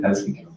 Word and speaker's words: Helsinki: Pronunciation, okay? Bergen. And I came here to Helsinki. Is that how I say it? Helsinki?